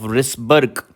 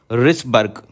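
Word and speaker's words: Wrisberg: is called ligament of risberg H comes before W so remember anterior is Humphrey posterior is risberg w I guess here is silent the spelling is w r i s b e RG and last of all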